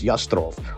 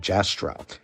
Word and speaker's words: Jastrow: Babylonia and Assyria by Morris Yastrov, or as some might pronounce his last name, Jastrow.